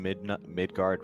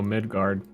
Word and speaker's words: Midgard: I don't know nothing about no Midgard. Firekin. Now, is it pronounced like the Norse mythology, or is it like middle, like guard? No, it's Norse.